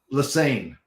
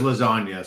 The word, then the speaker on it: Lassagne: professional bass angler and how do you pronounce your last name leaine like insane just La laain leaine I wasn't even going to attempt